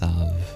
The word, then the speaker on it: salve: Donsa pronunciation of that word s a lv is pronounced savv sav like an ointment.